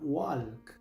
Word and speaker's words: walk: Muchos pronuncian esta palabra walk, pero aquí la l es muda, así que solo se pronuncia la W, la A y la K.